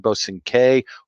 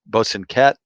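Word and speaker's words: Bosanquet: its english expressions with bernard bosin k or bosunket depending on the pronunciation and and and that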